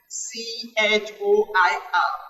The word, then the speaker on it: choir: Pronunciation is U. It is a homophone with Y-O-U. C-H-O-I-R, choir.